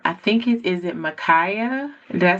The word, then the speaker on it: Makhiah: Um, I think it is it Micaia.